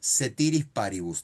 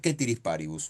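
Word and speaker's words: ceteris paribus: ese es el mecanismo de análisis, te dicen setiris paribus, te escribían en el pizarrón, pero se pronuncia quétirisparibus.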